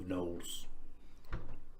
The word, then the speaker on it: gnolls: Today we speak of gnolls. Yes. Gnolls are... The G is silent.